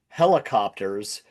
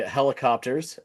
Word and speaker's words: Hellacopters: It is a band called Helicopters but it is spelled like the slang. I don't know if you guys say it over there, but it's definitely an American thing where we say hella. It just means a lot.